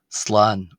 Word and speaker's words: Slán: uh is the word for goodbye generally is slan slan Pardon me.